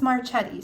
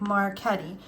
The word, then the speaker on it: Marchetti: by Mr chiro marketti I know some people will be like it's marchetti so in Italian because I hear a lot of people say marchetti so in Italian um the c-h-e we pronounce caddy like Marquette um so I don't